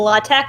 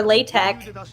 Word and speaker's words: LaTeX: doing it yeah well attack which is pronounced the law tech or latex is a document preparation